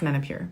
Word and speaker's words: Menopur: to really produce menopure pronounce it it's manipur it's actually way more fun when you pronounce it like it's a french name i'm kidding it's men of pure but i like saying manipu it just sounds like i'm more sophisticated okay as i slowly